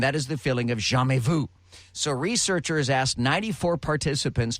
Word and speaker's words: jamais vu: So the opposite of deja vu is a thing called jamais vu. Hang on. I had to get the pronunciation guide on this.